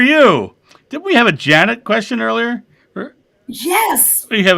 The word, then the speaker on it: Jeanette: It's spelled Jeanette, but she pronounced it Janet earlier.